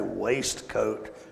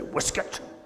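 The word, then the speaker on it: waistcoat: We would say waste coat, but the British say whiskuit.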